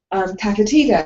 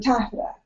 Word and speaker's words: taffeta: So, until she was corrected, it was Rauchin instead of routine. Tatatita instead of taffeta.